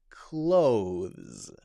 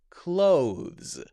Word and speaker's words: clothes: Technically, the correct pronunciation would be clothes, clothes, clothes. Now, if you notice there, very quickly, I flick my tongue out and bring it back in.